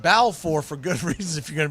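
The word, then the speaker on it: Balfour: But if you're not looking at the screen, you hear me keep saying Balffor. It's spelled as ball for B A L F O R. He pronounces it bow for good reasons if you're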